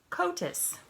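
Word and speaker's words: coatis: kotis miss Brisbane said reading from the letter pronounced kotas the codis looked weird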